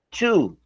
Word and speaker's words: to: Ese esa to que está allí se escribe to o pero se pronuncia to. Se pronuncia tu, o sea, la o allí suena u to, tu, pero no significa tu.